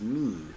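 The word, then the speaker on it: מין: is or the commitment it is the Hebrew word min pronounced mean so that means very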